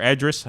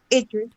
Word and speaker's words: Idris: Is it Idris or Edris? Some people pronounce it differently. You know, Chris had made mention in the chat room earlier. What was it, Chantel? Idris Elba.